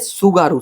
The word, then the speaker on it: Tsugaru: तो इट इज सुगारू state. Again सुगारू, आगे क्या होगा? टी होगा। तो देख ले, ऐसा स्पेलिंग है, ठीक है, TSUGARU, सुगारू स्टेट।